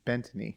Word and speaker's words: Bettany: Bettany.